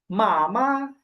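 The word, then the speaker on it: 妈妈: এই উচ্চারণটা কি হবে, প্রথমে আছে ফার্স্ট টোন, পরে এই যে পরের মায়ের উপরে কোনো টোন নাই, তো এটা হচ্ছে নিউট্রাল টোন। এটা উচ্চারণ হবে কেমন, যে একেবারে নর্মাল, মা, মা। প্রথমে হবে মা, তারপর হবে মা, মামা, মামা।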